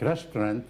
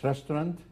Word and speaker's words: restaurant: The stress should be on the ending, not on resto.